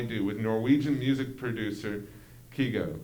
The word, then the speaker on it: Kygo: feel like i do with norwegian music producer kigo kygo it's spelled k-y-g-o uh the dance beat isn't too